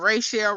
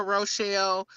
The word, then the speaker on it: Rochelle: I hate when people say Rochelle wrong. Like, it's been everything under the sun. Rachel, Rochelle. And it's not.